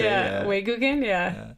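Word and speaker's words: 외국인: Yeah, Weiguken, yeah.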